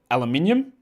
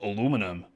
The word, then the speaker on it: aluminium: The word is spelled and pronounced aluminium, but Americans decide to leave off that I towards the end and just call it aluminum.